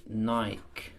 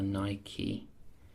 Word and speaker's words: Nike: time only just uh Nike this time or niky depending on how you want to pronounce it so just uh this